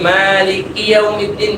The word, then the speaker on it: مالك يوم الدين: আমি যে মালিক ইয়াউমিদ্দিন পড়ি, মালিক ইয়াউমিদ্দিন। مالك يوم الدين কিয়াও কিয়াও না, মালিক ইয়াউমিদ্দিন।